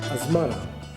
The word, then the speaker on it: Asmara: scholars Boop now lucky Asmara the pronunciation Asmara is the european version the italian tea the